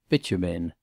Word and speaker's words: Bitumen: Mr. Freer had caught quite the right pronunciation of this name, which he successfully sounded as Bitumen.